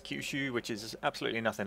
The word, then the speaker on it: Choshu: future long live the emperor so apparently it's kushu which is absolutely nothing like what I was pronouncing it on the uh loading screen so